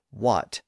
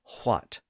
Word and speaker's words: what: in most standard dialects most of us say what and not what well that H sound was eventually lost in those words but it was a later development in the language John Hart's phonetic spellings indicate that the H sound was still being pronounced in the Elizabethan era the loss of that